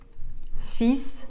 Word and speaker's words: fils: «Fils de Dieu» букву «л» не читаем, «fils» только остается.